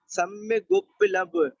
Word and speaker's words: सम्यगुपलभ्य: सम्य गुप लभ्य, त्वामेव सम्य गुप लभ्य, यानी त्वामेव सम्य गुप लभ्य, इसमें सम्य को बोलेंगे, उसके बाद में गुप्लभ्य बोलेंगे।